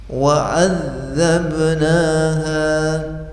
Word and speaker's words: وعذبناها: Jangan lupa kalau ada tasydid ditekan, ditahan. Wa'adzabnaha, kalau dibaca wa'adzabnaha salah.